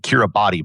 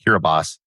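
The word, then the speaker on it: Kiribati: Most people pronounce it Kiraabati, but it's actually pronounced Kiraabas. There's no S in it, but it's pronounced like an S.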